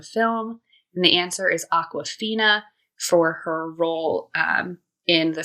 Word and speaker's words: Awkwafina: It's like awkward, but Awkwafina. Fina, yeah.